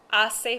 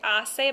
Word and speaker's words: hace: hace Frio remember that when you say assay by the way you're not going to say hace there's no h sound like that with the letter H in Spanish it's just a silent letter down here this expression